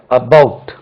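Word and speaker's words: about: ஆர் you talking அபௌட் stress lies on the second ஸ்லபிள் right ரெண்டாவது பாருங்க இப்படி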